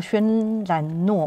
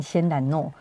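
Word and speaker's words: 轩岚诺: 前面那个叫轩岚诺嘛，成功，因为我在家都把它念成仙岚诺。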